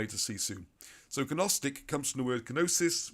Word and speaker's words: Gnostic: So Gnostic, some people say Gnostic. I had to pronounce the G because I'm not really good at spelling and it helps you remember.